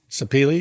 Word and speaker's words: sapeli: videographer had to explain to me how to pronounce one of the woods you have tropical hardwood sapeli sapeli yeah should I know what that is where